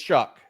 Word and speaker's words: Shough: I I said it like but but it's Chuck um and the only way the best way I could tell people at home and I and I I said this inable Chuck is gonna yeah I'll let you finish that